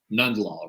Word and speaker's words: Nundlall: so I was like it has to be none law right I've had it all um yeah you just pronounce all the letters and you're fine so um okay so